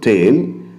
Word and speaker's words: taille: So the first one, taille. A property tax called taille, French pronunciation taille.